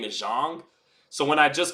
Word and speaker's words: Zhang: got big bang Jang I call him big bang Jen I call him jien